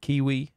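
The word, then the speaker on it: Keywe: We played Kiwi. Do you know Kiwi? Mm-mm. You play like a Kiwi, but two Kiwis. And but it's spelled like key as in like the lock. So K-E-Y and then W-E.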